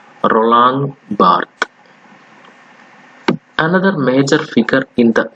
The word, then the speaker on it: Roland Barthes: Now we are going to study about another important name called Roland Barthes. See the pronunciation, Roland Barthes.